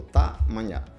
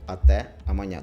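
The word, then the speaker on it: até amanhã: вони так скорочено говорять ви можете почути не АТЕ аманя А таманя тобто та Маня саме перше а Часто воно так сказати Не вжива не вживається і вони його просто не вимовляють так але правильно буде АТЕ аманя тобто до завтра але в неформальному мовленні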